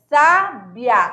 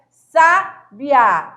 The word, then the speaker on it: sábia: Não, é sábia. Olha só, olha a boca, olha o timbre, olha a pronúncia. Olha o movimento, sábia, quase o I não se pronuncia, né?